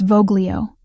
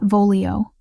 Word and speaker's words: voglio: It's Voglio, not Volio. Soft G like this.